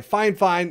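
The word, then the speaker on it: Fifine: start streaming this usb mic is made by fine fine yes that's how you pronounce it your next step would be to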